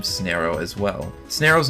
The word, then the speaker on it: Snareoh: Snareoh's name comes from the term snare, to tie something up, and, well, Snareoh rhyming with Pharaoh since he's a mummy alien.